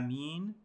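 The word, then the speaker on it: Āmīn: the scholars are that the purest linguistically is to say mean with elongation and lightening of the mean okay elongation meaning that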